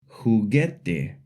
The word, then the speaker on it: juguete: E or an I, we add a silent U after the G, like in the words guitarra, guerra, juguete.